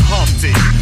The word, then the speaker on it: Humpty: My name is Humpty, pronounced with the umpty.